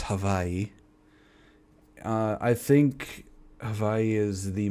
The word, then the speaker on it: Hawaii: I think Hawaii is the most, if you want to know the actual pronunciation, it's Hawaii.